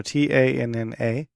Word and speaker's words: Tanna: Tanu? No, Tanna.